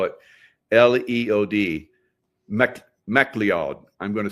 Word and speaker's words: MacLeod: And her last name is MacLeod, M-A-C, I better spell it, L-E-O-D, MacLeod.